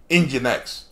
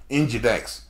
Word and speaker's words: Nginx: Nginx is like, sometimes they pronounce it Nginx, like your engine of your car, Nginx.